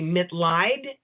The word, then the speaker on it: Mitleid: The last name is pronounced Mitleid, and the name of the book is Clean Out Your LifeCLoset.